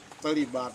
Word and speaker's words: baht: So baht in Thailand is like 30 baht right now for $1. So it's not baht. So baht in Paris you use between P sound and B sound.